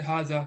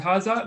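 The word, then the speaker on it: هذا: You just say haza. It's just written, but it's not pronounced.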